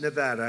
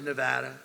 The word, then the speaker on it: Nevada: heard of it and don't ever mispronounce the name you're not allowed to do that you you mispronounce the name you got a problem you ever see somebody when they say it's Nevada Nevada no there they're in deep they're in deep trouble I I want to